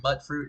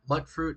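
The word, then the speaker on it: Mutfruit: see really quick uh mud fruit is a small purple fruit that grows on small butt fruit trees that bear yellow leaves the first syllable is pronounced as mute as in mutated fruit and that comes from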